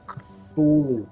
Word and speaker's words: Cthulhu: H.P. Lovecraft said you'll saw you pronounce it with your tongue held to the top of your mouth. Ah, Cthulhu.